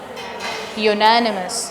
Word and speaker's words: unanimous: Unanimous. The sound is Y.